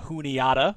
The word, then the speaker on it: Juniata: made it to playoffs we've got scada going up against juniata which we did get confirmation that is how you say it if it's not